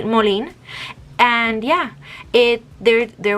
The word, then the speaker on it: Molin: the brand is called molin i'm gonna pronounce it like that because in spanish it would be moline and yeah it there